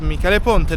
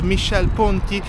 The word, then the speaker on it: Michele Ponte: My travel vlogging channel instead is Michele Ponte, that many people pronounce Michel Ponti, and I thought I